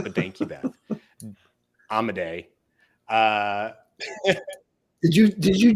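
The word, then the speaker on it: Amodei: we knew I wasn't going to get the pronunciation right but thank you be amaday uh did you did you just say pronunciation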